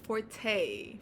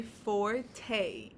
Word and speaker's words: forte: So you can say forte, kind of like with an A, to help you really pronounce it.